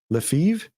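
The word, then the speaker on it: Lefèvre: a stock Operator by Edwin leev leiv it's like Brett Favre right it's spelled weird uh but Edwin leiv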